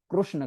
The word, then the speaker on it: कृष्ण: कृष्ण okay माता जी एक माता जी बोल रहे थे कि कृष्ण करके है ना तो ठीक है मैं कृष्ण करके मैं प्रोनाउंस करता हूं हरे कृष्णा हरे कृष्णा